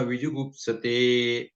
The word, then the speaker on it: ವಿಜುಗುಪ್ಸತೆ: ತೋ ನ ವಿಜು ಗುಪ್ತತೆ ವಿಹು ಅಂತ ಇದೆ ಇಲ್ಲಿ ಪ್ರಿಂಟಿಂಗ್ ತಪ್ಪಾಗಿರುತ್ತೆ ವಿಜುಗುಪ್ಸತೆ ನೋಡಿ ಜುಗುಪ್ಸೆ ಅಂದ್ರೆ ಗೊತ್ತೇನ್ರಿ ಈ